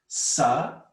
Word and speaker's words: Sarasvatī: what is the meaning of Sarasvati? Before we go to the meaning of Sharada, we must understand the meaning of Sarasvati. There are 3 syllables. Look, do it with me. Sarasvati, 4 syllables.